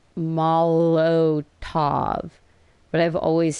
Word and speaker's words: Molotov: I would rather have a Mozzeltov. I always say Mozzeltov. I guess I've been saying it wrong my entire life. Mozzeltov. One goes, no, it's Molotov.